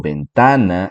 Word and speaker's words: ventana: Y aunque la mayoría tal vez pueda identificar que yo estoy diciendo ventana y que la segunda sílaba ta es la sílaba tónica, mucha gente puede no escucharlo.